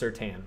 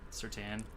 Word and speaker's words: Surtain: So it is pronounced Surtain, so we have been saying it incorrectly. I kind of hate that, but sorry, Surtain.